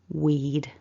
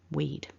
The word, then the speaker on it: we'd: this contraction happen we lose the and the ah and we're left with weed weed and you'll notice there is one syllable weed so let's put we